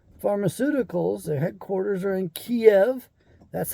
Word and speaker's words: Kiev: all of pharmacopia pharmaceuticals their headquarters are in kiev that's how you say it properly few jerks